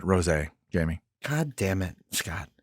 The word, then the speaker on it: rosé: Yeah, I believe they pronounce it rosé, Jamie.